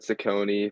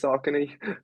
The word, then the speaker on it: Saucony: Yeah, I've heard Saucony, but I'm pretty sure it's Saucony.